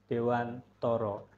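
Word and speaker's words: Dewantara: Jadi di sini Bapak Ibu ada filosofi pendidikan menurut Ki Hajar Dewantoro. Jadi ejaannya ternyata harus Toro walaupun tulisannya Tara.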